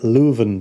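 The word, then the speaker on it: Leuven: Len Bas I believe and you say that lven that's how you say it uh Steven and K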